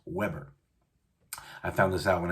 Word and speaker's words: Weber: thinking wait isn't it isn't is this the weaver grills no i know it looks like it's spilled like weaver but it is pronounced weber i found this out when i was getting